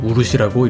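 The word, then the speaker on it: 漆: 그리고 우루시라고 읽습니다. 우리나라의 오칠과는 발음이 전혀 다르죠.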